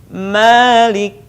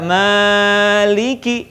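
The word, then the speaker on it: مالك: ayunkan suaranya alhamdulillahirobbilalamin arrohmanirrohim Maliki Ingat tidak meliki ayunkan Malikiyaumiddin ayunkan lagi pastikan Eyang know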